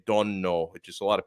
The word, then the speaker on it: Donno: Yeah, the right way to say it, it's Giuseppe Donno is how you say my name properly, Donno.